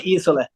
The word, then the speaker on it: Isole: we say Isole. Isole. Okay. It's a Swedish pronunciation, I think.